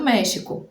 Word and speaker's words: México: E as palavras lá do México, também nomes próprios, nomes de pessoas e lugares, que começam com X ou que tem o X no meio, devem ser pronunciadas com som de J, como em México, Jimena, Oaxaca.